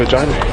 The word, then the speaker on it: Regina: So what do you think of Regina? Rhymes with fun.